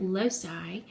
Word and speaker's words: loci: Latin word for location the plural of locus is I think you actually say it loci oh yeah it tells